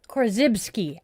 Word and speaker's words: Korzybski: I had it pronounced earlier. Korzybski.